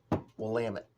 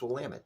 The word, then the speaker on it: Willamette: Willamette. It rhymes with damn it. So if people can't do it, it's Willamette, damn it.